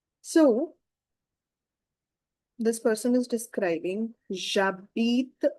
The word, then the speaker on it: j'habite: We don't pronounce H, but we have to give the liaison to A. So it will become ja sound. And because of the E, silent E, we need to read till T.